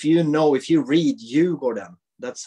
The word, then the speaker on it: Djurgården: Because if you say Djurgården, that's how you say it properly, but when you speak, you never say it like you go down.